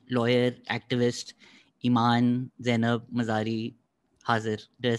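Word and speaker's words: Imaan Zainab Mazari Hazir: और आज की हमारी गेस्ट हैं लॉयर एक्टिविस्ट ईमान ज़ैनब मज़ारी हाजिर।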